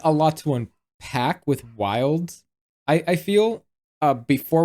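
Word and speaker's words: Wyld: More specifically, it's a guy called I think his name is Wild. I think that's how it's pronounced. Yeah, it's Wild.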